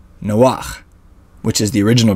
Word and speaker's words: Noach: or paresha as it's called in Hebrew called Noah which is the original pronunciation for Noah's name let's begin in Genesis